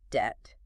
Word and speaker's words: debt: This phenomenon, adding silent letters to indicate Latin heritage, also occurs in words like debt, silent B, or receipt, silent P.